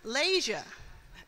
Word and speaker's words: Layshia: this time I'm going to be very here lasia am I pronouncing your name correctly yes lasia lasia it's